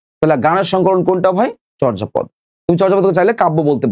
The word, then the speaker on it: চর্যাপদ: এটা উচ্চারণটা এরকম, চর্যাপদ। তোমরা চর্যাপদ বলো, অনেকে সমস্যা নাই, চর্যাপদ।